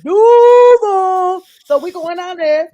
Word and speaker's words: Duval: And that's how you say it. That's how you say it. You don't be like Duval. You don't Duval. Yeah, you don't do that little fake coaching stuff. That even I know it's Duval.